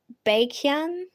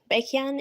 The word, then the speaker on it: Baekhyun: You know, one of my favorite artists, his name's really hard to pronounce for me cuz it sounds like I'm saying bacon. Cuz his name's like Baekhyun. Baekhyun. It sounds like I'm saying bacon with an accent.